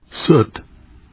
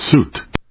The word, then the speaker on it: soot: Sut or soot. Oh, no, there's two pronunciations.